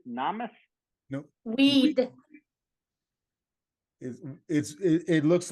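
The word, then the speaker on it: Oued: And it's pronounced Owed Namas? Nope. Weed.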